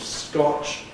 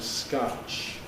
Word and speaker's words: scotch: So where we have a bottle of scotch, Americans have a bottle of scotch or indeed a bottle of scotch.